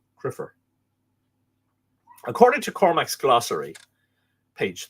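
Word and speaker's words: cruimther: Another Irish word for a priest, far less common than sacert, is crumther, but apparently with the lenition pronounced criffer, C-R-I-F-F-E-R, but this original spelling C-R-U-I-M-T-H-E-R, criffer.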